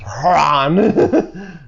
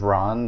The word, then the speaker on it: Hran: That's how I'm going to pronounce it now, is Hran. Used to be the gathering place of Dredge during the Second Great War. It's actually just Ron, the H is silent.